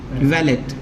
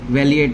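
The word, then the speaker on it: valeat: वैलेट, वैलिएट नहीं है, वैलेट।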